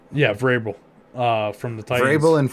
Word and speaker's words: Vrabel: Vrabel. Yeah, Vrabel.